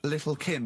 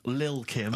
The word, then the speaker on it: Lil Kim: Now, Steve, I see there it's a track by Little Kim, but how are you pronouncing it? I'm pronouncing that correctly, Lil Kim. Oh, no T's involved.